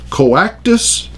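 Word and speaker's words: coactus: is this this is a Latin term it's Co actus facie I'll spell it for you Co actus is si o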